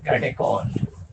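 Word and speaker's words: catechol: And known as कैटेकोल। आपको जैसा pronounce करना है कर सकते, कैटेचोल बोल सकते, कैटेकॉल बोल सकते।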